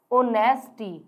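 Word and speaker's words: honesty: अब देखिए, ही इज एन ऑनेस्टी, ओ क्या आ रहा है, ऑनेस्टी, ओ किसकी साउंड दे रहा है, एच इसमें साइलेंट है, साउंड किसकी आ रही है, ओ की।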